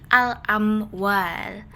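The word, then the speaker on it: الأموال: Cara bacanya adalah huruf lamnya dibaca dengan jelas. Jadi alamwal bukan dilebur.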